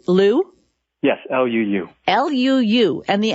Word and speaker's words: Luu: Liu?